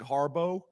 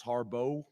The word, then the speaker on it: Harbaugh: offensive coordinator uh Greg Harbaugh um which is also an interesting one it looks like Harbaugh but in their pronunciation guide it's it's it's it's listed out as Harbo which was surprising I'm